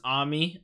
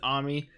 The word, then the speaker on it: Ami: it in the show that her name is Ami, or at least I'm almost positive they pronounce it Ami, but and it's even spelled A-M-I instead of A-M-Y like Amy, but it's just so weird to say Ami